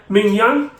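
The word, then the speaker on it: Maignan: I'm going to try to pronounce his name now because apparently it's spelled nothing like how you pronounce it. So is it Mike Mingyang, I believe, something like that.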